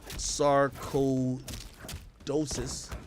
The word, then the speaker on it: sarcoidosis: KB's initial hospitalization stems from a diagnosis of Sarco idosis definitely I'm up that word